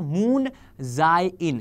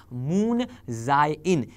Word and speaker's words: Moon Jae-in: Moon Jae-in, yes, that is what is the pronunciation. I have googled it, but I could be wrong. आप check कर लीजिएगा. Moon Jae-in.